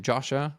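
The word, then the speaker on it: Joscha: And for example in the so I'll give you an example of where I feel that Yasha how do you pronounce his name? Josha Josha Josha yeah where he I feel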